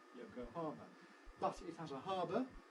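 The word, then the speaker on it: Yokohama: very readily we uh in English we stress Yoko harmer anglicized the stress is on the har Yoko Hara but it has a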